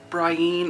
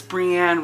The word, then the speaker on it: Brienne: I don't know but when he said Brian I was like there is no way that this girl's that this bitch's name is Brian it's Brianne Roy it's Brianne anyway okay I just